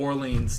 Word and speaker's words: Orleans: I don't even know how to pronounce his first name. Darkwa? That would be Orleans Darkwa.